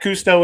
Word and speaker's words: Kustoo: At Cousteau is the handle. Is that correct? Is that how you pronounce it?